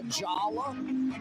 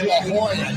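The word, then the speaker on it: La Jolla: have to go to I think it's pronounced Lala is it Lala here's Drew Brees uh they're telling me it's La Hoya not Lala wow I thought it was LaLa anyway yeah Drew Brees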